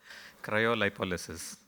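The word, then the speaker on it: cryolipolysis: we got one here actually a far cleaner pronunciation which I'm going to have the gentleman tell you cryo lipolysis that's the one so basically what is it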